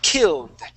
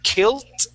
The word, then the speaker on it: killed: all right but here you want to make sure that uh that you pronounce that as a d okay because right now you're saying Kilt and pronouncing that like a t all right this is